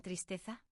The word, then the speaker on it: tristeza: Y otra, ¿dónde está el acento en tristeza? Lo dijimos antes. En t triste za. Si lo marcas, tu pronunciación mejora al instante.